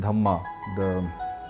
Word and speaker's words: dhamma: So you see a lot of similar looking words between Sanskrit and Prakrit, but pronounced little differently. A good example is dharma, the Sanskrit word, and dhamma, the Prakrit word.